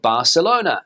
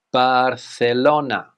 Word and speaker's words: Barcelona: M next up is the popular city of Barcelona as we would say in English but here in Spain the pronunciation would be Barcelona Barcelona Barcelona now this is a tricky one